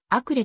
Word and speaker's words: Acre: 地区にあるしあっこはヘブライ語での読み方であり英語ではあくれと呼称されるその他悪化あっ